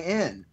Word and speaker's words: Berenstain: stuff from back in the 70s and 80s, it's spelled the Berenstain Bears, and now it's called the Berenstein Bears. So it's Berenstain.